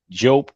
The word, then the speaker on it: Diop: That's Cheikh, Anta, A-N-T-A, Diop, and that's French pronunciation, but it's Diop, D-I-O-P.